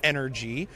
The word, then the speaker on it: ENRG: It official pronunciation just live for the vision spark podcast listeners. It is energy.